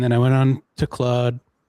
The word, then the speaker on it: Claude: Well, it's spelled like a Frenchman's name, so I'm gonna say it like a Frenchman.